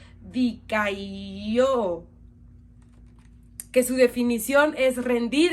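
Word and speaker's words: δικαιόω: Su palabra se pronuncia dikaio, que su definición es rendir, es mostrar o considerar como justo o inocente.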